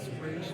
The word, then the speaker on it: Ra's: That's why they came up with the rule to say if you're in the league, it's Raish, and if you're not in the league, it's Raz.